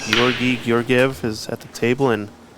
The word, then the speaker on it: Georgi Georgiev: back in the action 92 table one is pronounced Gori gorv is at the table and another awesome break